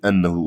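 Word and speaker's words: أنّه: şöyle bir durum var aslında innehu değil ennehu olması lazım burayı düzeltiyoruz ennehu Evet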